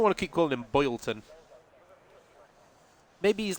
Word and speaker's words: Bolton: Instead of saying Bolton, it's Boylton.